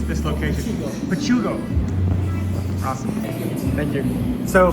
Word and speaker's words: Pachuco: How do you pronounce this location? Pugo. Awesome. Thank you. So, pachugo gelato.